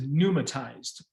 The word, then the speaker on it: pneumatized: inside of a space the term for this is pneumatized p-n-e-u is silent p-n-e-u means error in